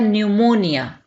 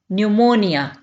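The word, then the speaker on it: pneumonia: इसको कहा जाता है न्यूमोनिया न्यूमोनिया यहां पर पी जो है यह साइलेंट होगा इसको नहीं पढ़ा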